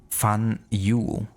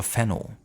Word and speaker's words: Faneuil: The name of this building is pronounced Fan-Yu or Fenno.